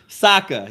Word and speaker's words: Sokka: Sokka, yes, that is correct. I Y'all literally got me second-guessing everything I'm saying. But anyway, Sokka later in the episode, while Aang is in